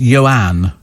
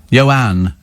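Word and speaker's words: Ioan: get my drift you know uh ion is pronounced yoan oh right and and it's a surname grood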